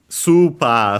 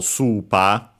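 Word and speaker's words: スーパー: Uh accented on the first syllable super. So super like in English.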